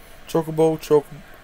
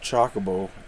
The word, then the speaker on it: Chocobo: bowl in his head chocobo chocobo not chockable definitely not chockable i say chocobo i